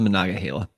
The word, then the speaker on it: Monongahela: It's the Monongahela. Monongahela.